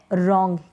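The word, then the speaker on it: wrong: फिर ये है रॉन्ग, क्या है? रॉन्ग। यहाँ पर ये जो डब्लू है ये साइलेंट है, इसको हम रीड नहीं कर रहे हैं, नहीं पढ़ रहे हैं।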